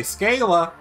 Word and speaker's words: Scala: the asian scholar are meant to be pronounced like the a's in java so if you you know so that's how that works right yes some people do say scala that's because they thought